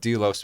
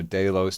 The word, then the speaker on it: Delos: I wasn't sure what Doos meant so I had to look it up and apparently you can pronounce it as Doos or deos depending on your Regional accent or where you're from but Doos is a Greek